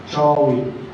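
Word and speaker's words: Chaui: But we're used to in English, we're used to English sounds to kind of draw that in.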